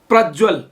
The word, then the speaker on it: प्रज्वल: अब प्रज्वल, प्रज्वलमा प्र जोड ज्वल, प्रज्वल ज एउटा मात्रै हुन्छ। उज्जवलमा उत ज्वल, उज्जवल उत्को त पनि ज भएर दुईटा ज लेख्नुपर्छ। उच्चारण चाहिँ प्रज्वलमा पनि ज दुईटै गरिन्छ र उज्जवलमा पनि ज दुईटै गरिन्छ।